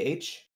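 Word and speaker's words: Aech: I couldn't catch it or seen the movie H spelled a e c h is the the main character best friend pronounced H yes oh and in the Oasis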